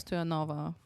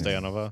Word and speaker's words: Stoyanova: Julia stanova stanova stanova yeah for the Americans stanova for the bulgarians Stova stanova yeah I like that more Stova yeah okay I'll pronounce it like that I've been pronouncing it